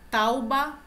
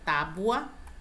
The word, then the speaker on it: tábua: Tauba, tá? A pronúncia é tábua.